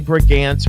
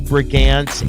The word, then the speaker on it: Brigance: Again, her name is Sally Brigance.